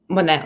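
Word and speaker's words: Moné: I don't know how to pronounce her last name correctly. Yeah, correct. The first one. Monet, right?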